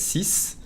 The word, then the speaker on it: six: Isn't it six? Yes, but in a sentence, when it's followed by a consonant, which means most of the time, we only pronounce the SI, si, and not the X. Only if it's followed by a vowel, you hear the Z sound.